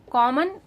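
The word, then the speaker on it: comb: Make a list of कॉमन words with silent letters. जैसे कि very कॉमन word है कोम। B silent है।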